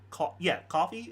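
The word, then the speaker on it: Ko-fi: Coffee is how you pronounce it.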